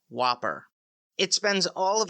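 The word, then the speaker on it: WOPR: plan response computer also known as W pronounced Whopper it spends all of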